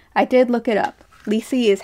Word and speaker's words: Lisi Harrison: Lisi is how you pronounce her name.